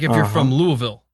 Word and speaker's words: Louisville: It's like if you're from Louisville, it's not Louisville, it's Louisville. Yeah.